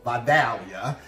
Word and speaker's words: Vidalia: town in south georgia called vidalia if you lived in georgia that's how they say it and one of my